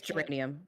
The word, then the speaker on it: geranium: Is it geranium or geranium? I think it's geranium with a Yeah. soft G.